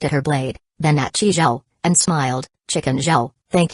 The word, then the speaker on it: Chi Zhao: At that thought, Chi Zhao decided to teach Li Huizi how to say his name himself.